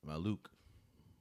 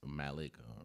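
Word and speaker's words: Maluach: So, I think drafting uh Maluk is is Maluk uh is Malik. I'm sorry I said your name wrong, but I think that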